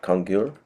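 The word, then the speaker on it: Kangyur: typically referring to the congur, how do you pronounce that? Kongur, which are the actual teachings of the Buddha.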